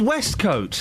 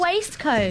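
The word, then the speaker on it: waistcoat: It's pronounced west coat.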